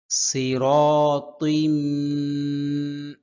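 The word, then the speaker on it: صراطٍ: আলা আলা সিরাতিম সির সদ সদের উচ্চারণ হয় মোটা, সিনের উচ্চারণ হয় পাতলা।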